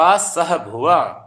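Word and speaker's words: सहभुवः: प्रश्वासा श्वास प्रश्वासा विक्षेप सह भुव। विक्षेप सह भुव। हा का उच्चारण भी करना, सह भुव। सह भुवः।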